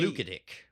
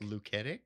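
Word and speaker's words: Luketic: L U K E T I C. Lucetic. Lucetic. Right.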